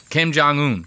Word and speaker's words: Kim Jong-un: You know, he goes on to do the same thing about this Kim Jong Woong or whatever it is. How do you say this guy's name? Kim Jong-un. Kim Jong-un.